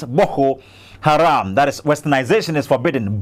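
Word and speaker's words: Boko Haram: B Haram that is the actual pronunciation is B Haram that is westernization is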